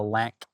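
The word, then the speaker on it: LAANC: Then, a great alternative is using the LAN app. That's spelled L A N C.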